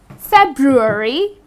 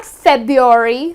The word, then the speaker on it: February: And then the last one is February, many people pronounce it incorrectly and therefore they spell it incorrectly as well. So it's not FEBUARY , so many of us drop the R while pronouncing it and as well as